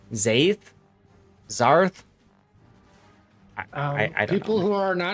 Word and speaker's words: Zath: How the hell do you mispronounce Zath? I get it all the time. Zath? Zarth?